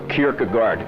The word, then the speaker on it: Kierkegaard: least in Western thought, was the Danish philosopher Kierkegaard in the 1800s. Anybody hear the name? I don't know, how do you pronounce it?